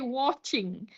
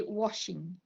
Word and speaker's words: watching: with the word watching they tend to say watching instead of watching you say washing.